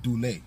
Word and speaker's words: Duley: So, but everything starts with Duley, and Duley is spelled D-U-L-E-Y, like Duley, you feel me? But it's Duley, you know me. I'm gonna say it the way I wanna say it, everybody else say it.